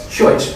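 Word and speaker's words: Scheutz: Did anybody know how to pronounce chute? Is it chutes? Sorry? Schuetz, right, thank you.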